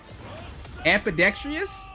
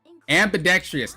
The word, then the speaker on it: ambidextrious: Apidextrious. Is that the Is that the word? Blood Moon said I'm aidextrious. Wait, hold up. Let me make sure I'm saying it right. Ambidextrious, not amp.